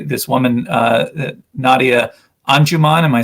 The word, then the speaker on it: Anjuman: from and you say this woman uh nadia anjuman am i saying it right yes um anjuman and her uh poem you describe it as